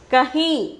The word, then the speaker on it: कहीं: Kahi. The pronunciation is kahi.